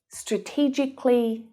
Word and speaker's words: strategically: But when an adjective ends in the k sound, like specific, we don't pronounce the syllable before the ly. And there's lots of examples of this. Realistically, strategically, logically, they're all pronounced in the same way, just like specifically.